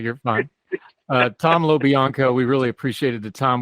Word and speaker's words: LoBianco: Tom LoBianco. I'll spell it.